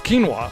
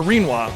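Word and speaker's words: Rinoa: Of course, it's quinoa, or Reenwa, of course, rather, yeah. Reenwa and Skull. How else do you pronounce it?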